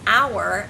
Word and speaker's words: hour: have a word that starts with a silent consonant for example the word hour as in what hour of the day is it you